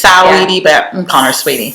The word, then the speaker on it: Saweetie: I think it's Saweetie, but I'm calling her Sweetie.